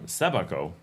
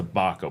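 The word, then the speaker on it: Sébaco: Um, Sabako. It's hard to get the accent right. There's an accent on the E. I always want to say Sabako, but the A does not have the accent.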